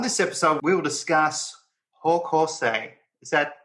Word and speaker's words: Houkousei: thank you on this episode we will discuss jor corsei is that correct whole course today yeah good pronunciation which i learned from you can be